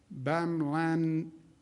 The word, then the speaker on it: bamlanivimab: Additional good news, FDA has allocated 4,600 doses of the therapeutic bamlanivimab. How do you pronounce that, doctor?